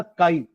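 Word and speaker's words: χ: इट is represented by इसका symbol है ना काई इसको काई प्रोनाउंस करते हैं सी एच आई छी मत बोलना है ना डिसकाई CHI आप फिजिक्स में भी ये सिंबल पढ़ोगे है ना?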